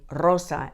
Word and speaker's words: rosa: car now let's say Rosa it's harder to start a word with a RAR but now that you've got your AR say Arosa and take off the AR Aros Rosa I